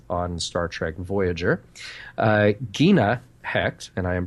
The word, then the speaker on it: Hecht: Gina Hecht, and I am pronouncing that correctly, as Manua.